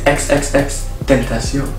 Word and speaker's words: XXXTentacion: Try to pronounce. Xxxtentacion. XXXXtentacion. XXXXtentacion. Okay. XXXXtentacion. No, it's XXXXtentacion.